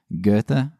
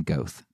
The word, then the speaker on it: Goethe: I still can't pronounce his name. Goethe? I pronounced his name Goth.